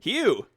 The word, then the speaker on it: Huu: Hugh. Hugh. Which is spelled Huu.